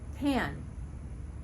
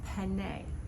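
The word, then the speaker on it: panne: did not know that pan i thought this was penne like velvet penne velvet no it's pan velvet and pan velvet is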